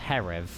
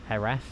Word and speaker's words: Jerez: I have no idea where Jerz is. Oh, obviously it's in Spain. Oh, pronounced Herv. Oh, Herf.